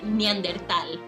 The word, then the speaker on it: Neanderthal: I've also heard a bunch of people tell me it's actually pronounced Neanderthal, and to them I say, that's not how TH works. Okay, if you want to pronounce it that way, pronounce it in Spanish, which is Neandertal. It's a way And that's better because way of it's pronouncing it. Spanish.